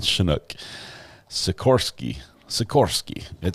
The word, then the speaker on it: Chinook: options they call them Chinooks like she she Nicks I'm saying and you say Chinook okay not pronounced like naked chin but like shin Scott thank you very